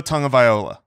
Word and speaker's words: Tagovailoa: Tua Tagovailoa. Tagovailoa? No. Yeah, that's right. That's right. Dang it, man. Tongue is how you pronounce the first part of that name.